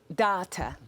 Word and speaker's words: Dawta: okay so it's called data yeah so um it's it's the jamaican pronunciation of daughter so it was a